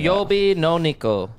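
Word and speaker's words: 水曜日の猫: Suiyobi no neko.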